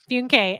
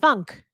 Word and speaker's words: Funke: Cindy Funke, FYI, oh, don't I feel and look dumb? FYI, it's pronounced funk. Interesting. The other way is too fancy dancy for this Missouri girl.